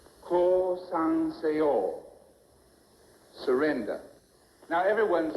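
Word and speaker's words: 降参: This is the way it must be pronounced. Core sanor surrender. Now everyone say it with me. Call son say all.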